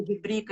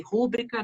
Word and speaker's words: rubrica: na pronúncia das palavras, errou a sílaba tônica, tipo rubrica e rúbrica, né?